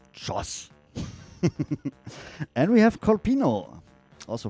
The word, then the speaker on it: Cioz: cheers it's c-i-o-z you would pronounce it but it's pronounced josh and we have colpino